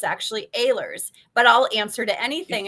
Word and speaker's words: Ehlers: Mike's last name is spelled Ehlers. And so I said, is it Ehlers? And he said, no, it's actually Ehlers, but I'll answer to anything.